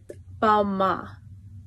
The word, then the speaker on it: Balmain: 5, 4, 3, 2, 1, How to pronounce designer names: Christian Louboutin, Hermes, Balmain, don't pronounce the N, Proenza Schouler, Givenchy, Louis Vuitton, Lanvin, Thierry Mugler, Ralph Lauren, not Lauren.